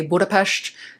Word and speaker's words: Budapest: An S alone without a Z makes the sh sound in English. So, that's why you'll hear me say Budapest.